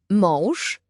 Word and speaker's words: mąż: Mąż.